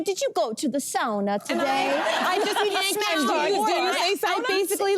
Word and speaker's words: sauna: And of course, in English, we say sauna, but if you are Finnish, it's sauna.